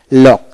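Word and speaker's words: lock: এল ও কে লক, সি উচ্চারিত হবে না, অর্থাৎ সি এবং কে একই উচ্চারণ হয়, তাই এখানে কি এল ও কে লক, ব্লক এভাবে হবে।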